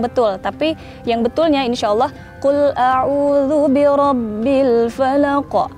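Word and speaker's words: قُلْ أَعُوذُ بِرَبِّ الْفَلَقِ: Qul a'udzu birabbil falaq. Nah, tuh kayak gitu tuh itu sebenarnya kurang betul. Tapi yang betulnya insyaallah qul a'udzu birabbil falaq. Jadi ada pantulannya.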